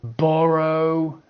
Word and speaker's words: borough: And finally, the O sound, O. We've got though, although, even though, O. Borough, you know, a borough is a district.